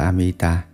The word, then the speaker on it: Amita: sống lâu Thọ mệnh chữ a di đà nguyên tiếng Ấn Độ đọc là amita dịch ra chữ Hán